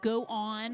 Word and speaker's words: Go On: From Go On or Goon Entertainment, however you want to pronounce it. I think they're okay with both.